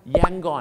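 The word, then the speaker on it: Yangon: เขา เนี่ย นะ ครับ และ ฝรั่ง ครับ เขา ออก เสียง ว่า ไง ครับ ย่าง กุ้ง ภาษา อังกฤษ นะ ครับ ้ะ ิว พอน ไม่ ใช่ ครับ มัน กุ้ง ย่าง ครับ ข้อ เสียง อะไร ครับ แยง กอน แยง กอน เหมือน คล้าย ๆ กิน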